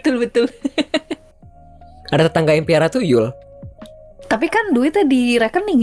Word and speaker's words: tuyul: Itu Yul. Temennya Itol. Bukan, ini bacanya begitu Kak Anci, kayaknya bukan I tapi tuyul.